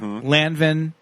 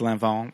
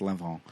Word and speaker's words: Lanvin: my notes Here Yeah Lanvin but I think it's pronounced lanon they they uh La Roach taught us that on season one of uh legendary MH House of Lanvin but it's pronounced Lon um and the men's